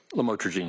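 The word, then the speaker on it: lamotrigine: about the u the lam otherwise known as lamatroine. Did I pronounce that right? Lamotraine.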